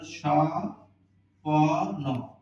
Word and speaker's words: স্বপন: স্বপন আমরা খেয়াল করলাম স্বপন শব্দের আদিতে বছনা থাকলে বছনার উচ্চারণ হয় না তাহলে এখানে কি হইলো তাহলে সপ ন সপন কিন্তু একটা নিয়ম আছে